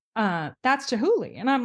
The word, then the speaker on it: Chihuly: I thought you were saying with a T, but it's a hard CH sound. Chihuly.